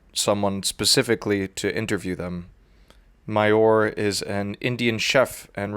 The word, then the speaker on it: Mayur: I'm pronouncing it correctly? Yeah, perfect. Mayur, yes.